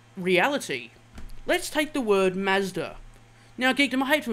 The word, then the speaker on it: Mazda: And how do you think the Japanese people pronounce Mazda? They don't pronounce it Mazda, Geekdom. They pronounce it Mazuda.